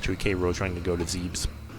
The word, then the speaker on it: Zebes: Fat Kro trying to go to Zebes or Zebas if you want to pronounce it correctly.